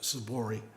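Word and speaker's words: Tzippori: It's spelled Tzoppori, but it's pronounced Tzipori.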